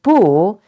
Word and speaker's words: 不: work so in short the character buo in most cases is pronounced the first toe the falling toone and there is only one situation it is pronounced as a second tone that is it is followed by a false tone and for a very